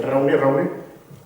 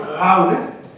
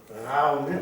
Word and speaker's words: Gaune: Y, lógicamente, dije Raune, No, es que es Gaune. Es que los iberos pronunciaban Gaune, como los franceses. Gaune o Jaune.